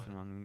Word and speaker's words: Fashanu: Fashanu.